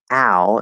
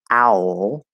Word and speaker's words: owl: so if it's easier for you to say al instead of owl then do that there's nothing wrong with it